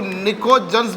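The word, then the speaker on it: pnictogen: नाइट्रोजन family elements नाम दिया इनको हम लोग, इन एलिमेंट्स को हम लोग निकोजन्स भी कहते हैं। We call them निकोजन। P silent है यहाँ पर।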